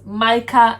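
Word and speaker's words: Mike'A: i love it um the right pronunciation is micah however i spell micah mike apostrophe a to put a little twist on it so you can pronounce it mike mike mike comma they got you yeah okay and the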